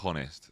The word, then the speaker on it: honest: here's another one evgo the h is silent in honest says crazy editor what